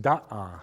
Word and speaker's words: Da'a: Now, you'll see the words D-A with an accent and then a second A. It's pronounced da'a, and that's an Arabic word.